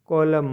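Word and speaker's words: column: के फॉक मतलब लोकगीत एन साइलेंट रहता है एम के बाद आता है तब जैसे ए यू टी यू एम N autumn मतलब पथ जर यह एक मौसम है सीओ एल यू एम एन कॉलम मतलब स्तम खाली जगह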